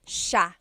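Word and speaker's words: siya: It looks like it should be pronounced cia sa but it's actually pronounced sha sha.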